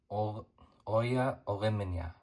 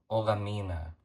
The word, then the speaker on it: Olamina: Or Lauren Oya. That's Lauren Olamina. Pronounced that wrong there.